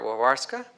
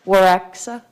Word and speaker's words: Waraksa: Wawarska, am I pronouncing that correctly? Waraksa. Wawarsa, okay. Waraksa, yeah.